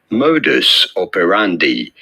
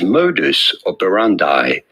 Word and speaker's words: modus operandi: go about pronouncing it the closer way to the original latin pronunciation would be modus operandi this is a pronunciation that is commonly used in english however this is often said in english in american english in particular as modus operandi no there you go